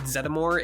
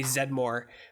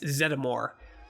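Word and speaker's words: Zeddmore: and by the way it is said zedimore it's in the cartoon they say zed more but uh dan eckerd has confirmed that it's zeddimore uh winston zettimore is how you say it if there's a steady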